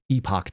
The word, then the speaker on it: Epoch: This is from uh Epic Times. Epoch Times that they pronounce epic.